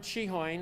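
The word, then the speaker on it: Cichon: address for the record my name is cheehoyn it's spelled c-i-c-h-o-n i live at 3516 west small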